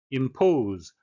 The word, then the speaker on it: impose: Impose. 발음에 유의하셔야 되는데요. 오는 이중 모음이 되겠습니다.